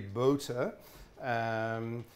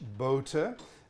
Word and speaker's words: Bohte: you prefer Johann Heinrich boater I suspect the English called him boat I don't know but if you think of his name as the equivalent of the straw hat boater that's roughly that the